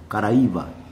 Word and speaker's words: Caraíba: ouviu falar nessa expressão Caraíba no tup antigo nós pronunciamos caraa alguns tradutores essa palavra